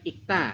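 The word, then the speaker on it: 읽: Ini kan ikta artinya adalah membaca. Kayak gitu ya. Nah ini kita hanya ambil ininya saja ya. Tulisnya ilak kalau dibaca semua ilak, nah, dibacanya ik.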